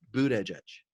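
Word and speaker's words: Buttigieg: used to saying it the way it's pronounced is Budda Budda judge and I'd be happy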